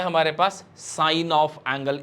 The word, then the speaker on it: sine: जब हम इसकी बात करेंगे तो यहाँ पर सिन नहीं बोलते हैं इसको, बहुत ही डिफरेंट मीनिंग हो गया ना उसके लिए। तो साइन, ठीक है ना, लिखेंगे SIN बट प्रोनाउंस करेंगे साइन।